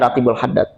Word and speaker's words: Ratibul Haddad: membaca apa Ratib ratibnya Ratibul Haddad pertanyaan saya Kenapa bacanya Rotibul Haddad kan Akbar Kenapa Rotibul Haddad ini saya lagi kaitkan